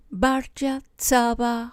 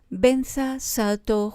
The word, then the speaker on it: Vajrasattva: Om Vajrasattva Hum, que los tibetanos pronuncian Om Benza Sato Hum.